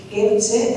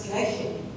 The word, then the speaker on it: Kirche: Kertze es la pronunciación española, pero cambia. Si esto lo leo yo a la alemana, es Kirche.